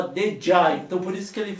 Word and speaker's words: Djá: com bordão Lig já que falava que dej na verdade é o já só que na a pronúncia ficava dej então por isso que